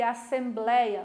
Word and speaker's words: Assembleia: é uma palavra paroxítona Aonde está a sílaba tônica a sílaba forte de Assembleia no Blair né não vou acentuar porque ela é paroxítona Ok então problema da